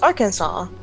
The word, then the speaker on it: Arkansas: The letter S at the end of French words is usually silent, so it's pronounced Arkansas.